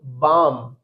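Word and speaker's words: balm: तो एलम का भी रूल है कि अगर लास्ट में एलएम मिलता है तो एल लेटर साइलेंट रहेगा तो हम इसको रीड करेंगे काम इसको रीड करेंगे बाम ठीक है बम नेक्स्ट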